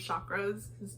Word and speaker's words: chakra: he like closes his chakras. The guy, he pronounces it so like enunciated on the show, and I think it's fun.